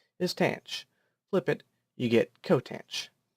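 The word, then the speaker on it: tanh: they are very similar to sine cosine and tangent and they're reciprocals cosecant secant and cotangent however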